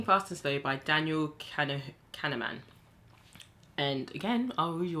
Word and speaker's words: Kahneman: That's how you say it, Kahneman.